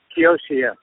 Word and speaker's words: Kiyoshi: Is that how you pronounce her name? Is she playing with you? Yeah, Kiyoshi.